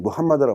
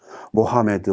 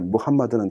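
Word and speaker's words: محمد: 다시 또 만들어 라고 발음합니다 이것을 미국 사람들은 무함마드를 바른 원외 미국식 발음으로 모하메드 마음에 4 으 이런 식으로 발음을 하게 됩니다 뭐 4 아랍 사람들의 이름에 무함마드는 대단히 많습니다 무함마드는 이슬람 기호를 장시 한 사람입니다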